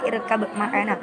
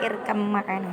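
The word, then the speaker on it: ارْكَبْ مَعَنَا: Itu kan bacanya kalau orang awam yang belum mempelajari kan irkab ma'ana. Tapi sebenarnya membacanya itu irkam ma'ana gitu.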